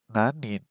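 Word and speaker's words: 何人: 何人 Nanin. Okay, so nanin. Okay, so that's the correct one.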